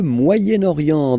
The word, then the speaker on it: Moyen-Orient: So it's interesting here because normally if you would have only this word here, you would pronounce it moyen, moyen. Okay, but then as you've got this vowel after, okay, you get to make the liaison between the two.